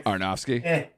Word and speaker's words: Aronofsky: But, you know, Darren Ar- I don't know how to pronounce his last name. Aronofsky.